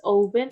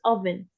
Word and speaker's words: oven: Not oven, it's oven. Oven. Pronounce it Yes, as in the oven.